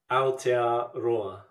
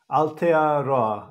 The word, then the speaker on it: Aotearoa: Aotearoa. Aotearoa.